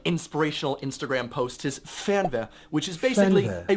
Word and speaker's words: Fernweh: you'll see on all those like inspirational Instagram posts is Fernweh, which is basically Fernweh.